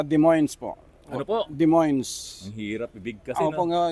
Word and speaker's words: Des Moines: yun nga po e Des moines po o pagka sinulat mo Des pagkatapos moines ang pronounciation ah Parang Iyung Wilcon Depot di ba pero ang bigkas ay depo o ay so Ayan